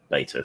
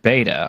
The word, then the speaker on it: beta: Oh, but we shall see whether it works because it's a beta feature. Okay. Wait a minute. You said beta. I thought you were British. This must be beta.